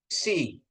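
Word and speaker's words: xi: Jadi KS, ya, KS, ksi, ya, Bapak Ibu, ya, ksi. Nah, ksi, ya. Jadi disebutnya penekanannya di K itu harus kedengaran K-nya, KS-nya. Jadi bacanya ksi, ya, ksi.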